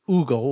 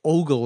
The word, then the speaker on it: ogle: to Ogle Ogle e which some people might pronounce ugle like Google but Ole is the standard pronunciation means to look at